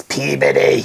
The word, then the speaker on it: Peabody: It's Peabody. It's Peabody. Say it right, Frenchie. Yeah.